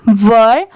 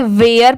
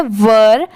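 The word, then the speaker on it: were: डब्लू ई आर ई वर बहुत सारे लोग इसे गलत प्रोनाउंस करते हैं इसे वेयर पढ़ते हैं बट ये रंग होता है इसकी प्रोनंसिएशन है वर डब्लू ई आर ई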